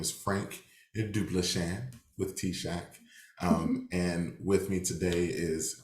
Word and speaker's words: TSAHC: I know we call it T-Shack, but it's spelled TSAHC.